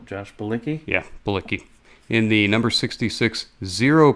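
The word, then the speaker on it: Bilicki: Yeah, Bulicki.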